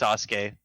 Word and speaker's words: Sasuke: for me real quick so sue okay okay cool yes you we can continue why that's not even how you say it it's pronounced Sasuke that's not true yeah